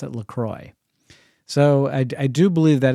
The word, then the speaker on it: LaCroix: no Grace it's pronounced Lacroix there's no n in the spelling and she'd say oh